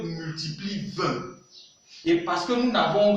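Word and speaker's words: vingt: 20. Il se prononce comme ceci.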